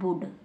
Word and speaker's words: would: यदि एल को पढ़ेंगे तो रॉन्ग हो जाएगा, गलत हो जाएगा।